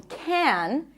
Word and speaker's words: can: However, this word is often reduced. When it's unstressed in a sentence, it's not pronounced can, as in, yes, we can. In this case, it's stressed. Usually, it's pronounced as can. I can do it. I can go there.